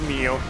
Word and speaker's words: Nioh: I'm pretty sure the Japanese word, like pronunciation, is actually Neo, the same in Spanish. It's Nioh.